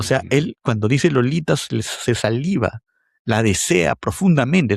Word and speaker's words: Lolita: Hay que hacer un esfuerzo que no es normal en el inglés para que la T suene Mm, interdental, porque Lolita es extravagante, es exótica,